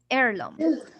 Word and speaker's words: heirloom: Ah, miss, we have H. H is silent here. Yeah. So we have heirloom.